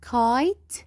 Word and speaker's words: kite: kite the same. We will not pronounce E. We will pronounce just I. kite.